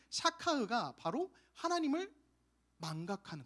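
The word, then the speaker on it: שכח: 이 단어가 히브리어로는 그 샤카흐라는 단어로 쓰고 있어요. 샤카흐. 따라해 볼까요? 샤카흐. 네, 좋아요.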